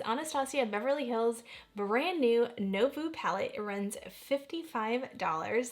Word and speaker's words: Nouveau: beverly hills brand new novo palette it runs 55 so you pronounce it like navoo it's short for navoo